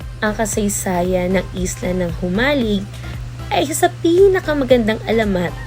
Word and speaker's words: Jomalig: maikling impormasyon patungkol sa jumalig ang jumalig Island ang tamang bigkas dito ay humalig na matatagpuan sa silangang